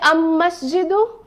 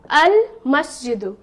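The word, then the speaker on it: المسجد: Okay, so here no tashdeed sign, and lam here, lam is not silent. Lam is pronounced. So I will say, will I say masjidu? No. I will say al-masjidu.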